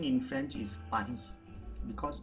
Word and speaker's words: Paris: party i live in paris so paris pronunciation in french is padi because normally we don't pronounce the last consonant so the s will be silent here so paris in france